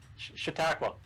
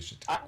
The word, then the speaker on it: Chautauqua: Okay, we'll let you pronounce the lake name. Chautauqua. Have you fished it? I told you Chautauqua.